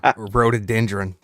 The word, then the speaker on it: rhododendron: How do we pronounce that, Dustin? What's that word you've been practicing? I got it this time. Rhododendron.